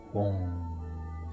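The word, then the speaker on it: HUNG: time we feel the inner vibration of the syllable. Hum. H-U-N-G, Hum, vibrating in the center of our chest.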